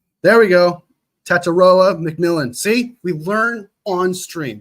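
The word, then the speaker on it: Tetairoa McMillan: T mcon McMillan all right there we go taroa McMillan see we learn on stream we learn together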